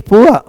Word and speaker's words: poor: POOR, इन पी से प, double O से ऊ, र, पूर, पूर नहीं बोलेंगे, पुआ बोलेंगे, पुआ मिस गरीब। BOOR, बुअर बोलेंगे, बुअर मिस भौंदू, बुद्धू। जैसे आप कहोगे सर वह गरीब है, शा, ही इज पुअर नॉट पूर।